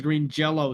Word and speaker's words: Green Jellÿ: green jelly so so the Y still is pronounced as an O it is still pronounced as Green Jello somehow oh so so